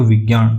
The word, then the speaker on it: विज्ञान: थोड़ा सा इसमें ऑप्शन ये एक्चुअली सही दे दिया है, तो ऑप्शन में ये रहना था विज्ञान। तो विज्ञान में यहाँ पे न का उच्चारण नहीं होता है, ये ऐसा विज्ञान लिखा जाता है।